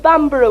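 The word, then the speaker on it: Bamburgh: cheated, and it's now "The Laidly Worm of Bamborough," which is a couple of miles up the coast.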